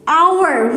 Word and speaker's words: hour: but its pronunciation is hour, which is started from O. It begins with H, which is consonant, but the pronunciation started from O because H remains silent.